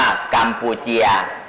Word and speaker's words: กัมพูชา: สระ เอียะ ก็ ได้ เขียน ว่า กัมพูชา นั่น แหละ แต่ ก็ อ่าน ว่า กัมปูเจีย นากัมพูชา เชียว น่ะ เข้า